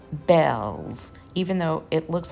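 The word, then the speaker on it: Bealls: So I needed a few things for the kitchen, and I went to a store called Bell's, even though it looks like it's pronounced Beals.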